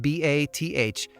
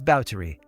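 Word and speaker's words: Báthory: remember her as elizabeth bautry and just a note if you've ever read about elizabeth you might have assumed her surname spelled b-a-t-h-o-r-y is pronounced bathory but the proper correct pronunciation is bowtery still it's not because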